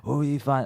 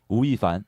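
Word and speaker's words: 吴亦凡: Wu Yifan. That's my Chinese name. Wu Yifan. It's Oh, just okay. going crazy, right? How do you say it? Wu Yifan.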